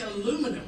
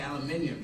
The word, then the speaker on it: aluminium: And you say aluminum, we say aluminium.